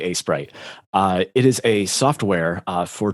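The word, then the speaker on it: Aseprite: I think it's A-Sprite. It's AESPRITE. So yeah, it's probably A-Sprite.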